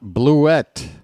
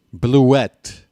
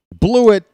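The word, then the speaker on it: Blewett: It's Scott Bluette. That's right, folks. I'm going to start enunciating that second syllable with a little bit of emphasis. Bluette. Apparently, that is how it's truly pronounced. Blew it sounds a little more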